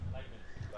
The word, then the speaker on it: Leibniz: It didn't come from that one German guy whose name I can't pronounce. Anyone? Leibniz? Leibniz? Leibniz.